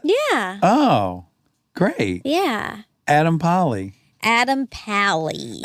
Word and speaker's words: Pally: Adam Pally. Adam Pally. Adam Pally is a pal of mine. Yeah. And that's why I always pronounce the Al.